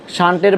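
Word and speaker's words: shunt: গ্যালভানোমিটারের সাথে ছোট্ট একটা যন্ত্র লাগানো হয় যেটাকে বলা হয় শান্ট। যেটাকে কি বলা হয়? শান্ট। প্রশ্ন হচ্ছে শান্ট কিয়া, শান্টের বাড়ি কই, শ্বশুর বাড়ি কই, এটা আমরা জানতে হবে। শান্ত না, শান্ট।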